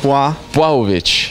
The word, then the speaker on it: Blachowicz: So how to pronounce it good now? Do you remember? Jan Blachowicz.